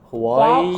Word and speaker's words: Hawaii: this is also hard I us mess up this with the brand of phone we have from China Hawaii Huawei H Huawei you mix it up with Huawei yeah Huawei and this is Hawaii Hawaii Hawaii Hawaii Hawaii